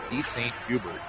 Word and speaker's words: DeSaint Hubert: Actually, his mom just told me they pronounce it DeSaint Hubert.